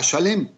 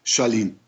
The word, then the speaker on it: Shalem: coinciden en llegar a Shalem. Shalem, aquel dios cananita que hablamos, que es del ocaso, y que también llega a ser pronunciado según la lengua del lugar como Shalim.